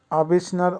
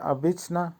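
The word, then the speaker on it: обычно: উচ্চারণ হবে উজে, উজে। আবিসনা, আবিসনার অর্থ হবে সাধারণত অথবা ইউজুয়ালি। উচ্চারণ হবে আবিসনা।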